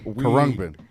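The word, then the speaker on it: Khruangbin: I thought it was Karangbin. First of all, Kurungbin.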